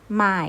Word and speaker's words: 买: นะ คะ ลูก คุณ หมอ บวก อาย เป็น ไม้ นะ คะ เสียง 3 เป็น มาย แต่ ไม่ ตัว นี้